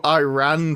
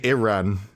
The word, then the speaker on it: Iran: I was hungry, so I ran to Turkey. It sounds painful for him to say that. It is, because I had to use the American pronunciation. Over here we say Iran, not Iran.